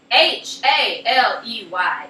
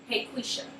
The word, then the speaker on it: Haley: to pronounce my name h a l e y it is Haley five letters Haley's comment H's comment you can pronounce a Haley or H why are you trying to pronounce it heisha or something or I